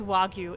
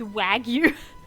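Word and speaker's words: wagyu: Shadow then uh okay people don't know how to pronounce wagu in Australia they're like it's oh yeah it's wagu it's wag you so whenever I'm at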